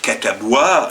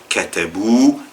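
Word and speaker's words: كتبوا: pour le pluriel et le alif qui ne se prononce pas. Il y a un alif à la à la fin après le w qui ne se prononce pas. Vous allez pas dire katabois.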